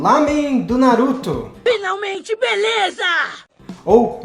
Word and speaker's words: ramen: Hoje nós vamos fazer uma receita muito especial pedida por alguns de vocês, que é o Ramen do Naruto. Finalmente, beleza! Ou ramen, como é pronunciado lá no Japão, da onde a receita se originou.